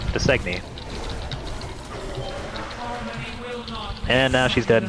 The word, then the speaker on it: Dausegne: How do you pronounce that? That's what? The name. Her name? Dausegne.